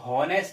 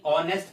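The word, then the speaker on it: honest: Okay, इसको हॉनेस्ट नहीं ऑनेस्ट pronounce करते हैं आप।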